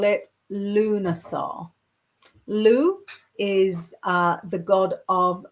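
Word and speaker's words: Lugh: a little bit because it's so hard to pronounce. So I know um to call it Luna. Lou is uh the god of many skills.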